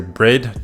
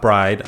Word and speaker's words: Bride: You can consider Brid, not Bride. I know a lot of people read it as Bride, but it's pronounced Brid.